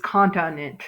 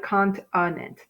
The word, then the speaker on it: continent: So like I said, if you said continent, kind of works, but naturally it's continent, right? Continent. So continent. Okay. Now again, this I by itself would typically be an open syllable, right? Which would give me a long sound, but this doesn't. It gives me the sound.